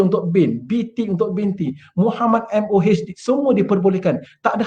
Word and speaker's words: Muhammad: Jadi kita tulis nama beliau MOHD. Bukan saya katakan Mohd. Itu namanya MOHD atau MD stands for Muhammad. Ini short form saja. Pronounce lah betul-betul.